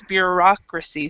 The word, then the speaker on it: bureaucracy: if it's different but in American English we actually do pronounce you know it's bureaucracy so we have that that stress there so but we do